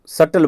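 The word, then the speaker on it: subtle: इसको सटल बोलते हैं। देख लो बी जो होता है ना बी इसको साइलेंट रखते हैं।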